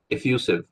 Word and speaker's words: effusive: F U Effusive.